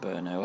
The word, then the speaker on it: Brno: it's felt B I know but it's actually pronounced Brno I did I think I've mentioned this on